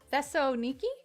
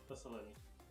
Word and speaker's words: Thessaloniki: How did you pronounce it? Thessaloniki. Thessaloniki.